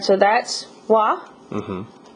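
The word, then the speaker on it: は: that I'm writing me is pronounced ha normally but when you use it in a sentence to like uh I guess modify a word like it tells you what you're doing that word's doing that subject's doing um it's pronounced uh W okay instead so Watashi Wa and then we got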